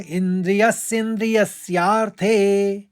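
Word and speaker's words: इन्द्रियस्येन्द्रियस्यार्थे: पहले चरण में एक ही शब्द है, इंद्रियस्य और इंद्रियस्यार्थे, दोनों शब्द मिला के बनाए, इंद्रियस्य और इंद्रियस्यार्थे। तो उच्चारण करते समय इंद्रियस्येन्द्रियस्यार्थे।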